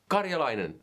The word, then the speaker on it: Karjalainen: everyone, welcome to another video with me, J. Karjalainen. That's how you pronounce it. If it's tricky to pronounce, Karjalainen, you can call me this guy.